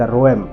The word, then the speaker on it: ROEM: एक advance artillery को इसका नाम है द रोम या इसको ना बोलेंगे द रोम जिका स्पेलिंग अगर मैं बोलूं that is आर ओ ई एम अब यह जो पर्टिकुलर